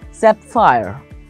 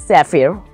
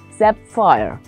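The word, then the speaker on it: sapphire: that fire it is set fire don't think it's safir or sap fury it's set fire look at the spellings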